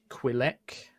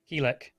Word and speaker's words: Quilek: Keelek. Keelek. Ah, the spelling in the dossier gives a otherwise different idea. I'm for the aware, Mark! pronunciation. Finally, an RP way to tell you that you've been saying it wrong this entire time.